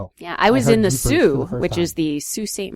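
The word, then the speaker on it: Sault: I took French and it seemed like that would be the pronunciation, but it's not. Sue.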